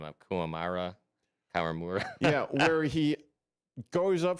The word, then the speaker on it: Kawamura: Kawamura. That's the correct pronunciation.